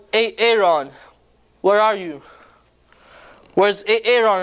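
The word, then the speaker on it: Aaron: first time I said it ate a rod because it's pronounced Erin so you don't messed up ay-ay ron now take your butt down to mr.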